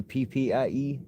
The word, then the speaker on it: crappie: I don't know why it's spelled as Crappie, but if you go into an actual dictionary and look up the pronunciation of it, it is crappie.